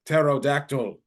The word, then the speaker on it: pterodactyl: of pterodactyl oh pterodactyl but the p is silent how spell wear p